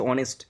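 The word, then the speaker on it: honest: যদি হবে যদি হয় তখন বসবে এন এখানে উচ্চারণ হচ্ছে অনেস্ট তাহলে এইচ এর মত হয়নি হ এর মত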